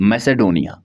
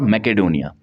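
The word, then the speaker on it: Macedonia: मैसेडोनिया, मैसेडोनिया और मैकेडोनिया, आप प्रोनाउंसिएशन अपने हिसाब से कर सकते हैं।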